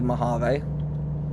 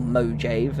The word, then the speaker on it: Mojave: So, we're not going into Mave or Mojave as I should say as it's that's how it's spelled.